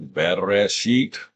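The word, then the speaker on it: בראשית: In other words, I would have learned that Bereshit is the pronunciation for these group of characters.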